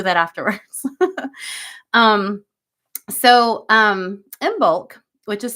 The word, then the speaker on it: Imbolc: kind of wanted to focus energetically speaking on imul um which is officially tomorrow so um and